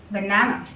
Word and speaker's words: banana: B-A-N-A-N-A, here in the banana, two schwa sound are involved again. That is on the first A and the last. Banana.